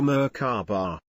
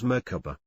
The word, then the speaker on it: Merkabah: It is seen in other cultures as Merkabah, Merkabah and Merkabah. There are several pronunciations, but generally you pronounce it as if the three syllables are separate, with equal accents on each.